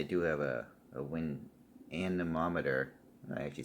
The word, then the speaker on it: anemometer: now this I do have a a wind anemometer I actually said it right this time so